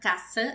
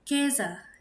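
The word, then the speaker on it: Käse: Jadi ini bukan case ya, tapi kez. Jadi cara membacanya itu e-nya aja. A-nya itu samar atau dihilangkan. Jadi diganti dengan e ke artinya adalah keju.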